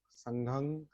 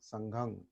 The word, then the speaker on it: संघं: पाली शब्द जो है, पाली उच्चारण, बुद्धंग, धम्मंग, संघंग, इसमें मकारांत नहीं है। पाली में मकारांत नहीं होता। पाली में अनुनासिक क्या कहते हैं उसको, होता है, नहीं, म नहीं, अनुस्वार। अनुस्वार। बुद्धंग, धम्मंग, संघंग, एकं समयं